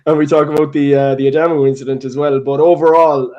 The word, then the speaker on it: Adamu: Oh yeah, Junior Adamu. I hear other people getting his name wrong, so I better not get it wrong.